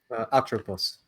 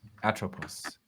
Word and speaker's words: Atropos: How is it pronounced? One more time. Atropos. Atropos.